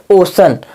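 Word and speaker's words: ocean: लेना इसका तीसरा नियम तीसरा नियम लिखा है यदि सी के बाद क्या ए जाएगा दोस्तों ए ए जाए या फिर या ए जाए आदि अक्षर हो तो उसी का उच्चारण हम दोस्तों क्या पढ़ते हैं ट वाला सा पढ़ते हैं जैसे ओशन ओ सी आई ए एन सी के बाद इसमें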